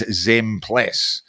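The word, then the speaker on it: Zempilas: The pronunciation of Basil Zmplas's name is Zmpless.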